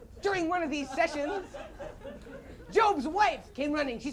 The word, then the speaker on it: Job: sense of humor that is only his job pronounce job and not job job stood outside his Hut prayed to God